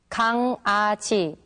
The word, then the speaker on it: 강아지: 강아지, 강아지. 좋아요, 좋아요. Can you tell the difference between the 2 words? Well, when the characters iung and iung meet back to back, then they are pronounced separately.